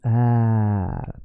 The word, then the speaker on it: är: The word är, let me stretch är.